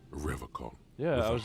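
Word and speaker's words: Revachol: He pronounces Revocol.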